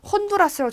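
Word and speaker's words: Honduras: 자, 아체라고 하는 얘는요. 어떤 경우에도 발음을 하지 않습니다. 여러분들이 알고 있는 온두라스 영어 그 철자 보셨습니까? 그 스페인어 철자 보시면 영어로 써 있을 때도 혼두라스라고 적혀 있는데 앞에 H를 읽지 않아요.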